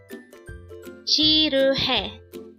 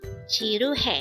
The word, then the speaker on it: 지루해: Chiru. This pronounces a three syllable word. The first syllable is J, second syllable is R and third syllable is he. Pronounce it with me. Chiru.